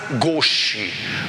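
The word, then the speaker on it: gauche: primeiro momento a chamada fase goch não é que se escreve gauch que é uma palavra francesa que quer dizer né a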